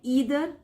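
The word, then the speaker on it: either: आई ईदर विन और learn. ईदर को आइदर भी बोल सकते हैं कुछ।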